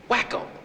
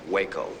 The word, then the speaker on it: Waco: just being good friends wacko it's not what they call you no no that's that's um Waco you know with a long a like the town whenever they find you